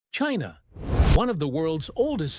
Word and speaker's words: Qin: Their name was pronounced chin and that sound made its way west through trade with India, Persia and eventually Europe.